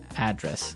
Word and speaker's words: address: And there the stress is on the first syllable address.